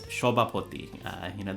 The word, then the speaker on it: Sabapati: I mean, you can search, that's Shobapoti, Sabapati's name in Bangla pronunciation.